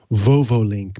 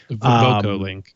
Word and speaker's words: VocoLink: It's called the VovoLink PureFlow Air Purifier. VocoLink, by the way. Oh, is it VocoLink? Did they spell it wrong in this article?